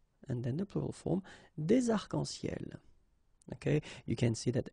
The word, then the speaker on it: arcs-en-ciel: Okay, you can see that as usual we don't really pronounce this final S, so phonetically it's almost the same, but then we've got this liaison between the two, des arcs-en-ciel.